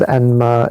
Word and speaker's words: Enma: So Yama is Enma in Japan, but same thing, just a different pronunciation.